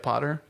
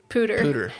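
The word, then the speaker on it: POODR: And I'm pretty sure that's how you say it, right, Potter? Pooter.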